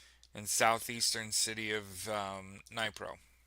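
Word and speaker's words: Dnipro: Russian drone strike on a bus killed 12 people carrying mine workers in southeastern city of um Nypro. There's no way you're pronouncing the D there.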